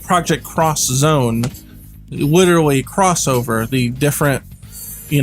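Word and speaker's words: Project X Zone: like project cross zone they actually pronounce it as cross zone x zone it's spelled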